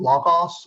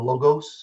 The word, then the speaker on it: Logos: And it's a program called Logos or Logos. If you're talking to different folks, they either move it into the Greek pronunciation, which is probably around where it begins, or just what they know how to use.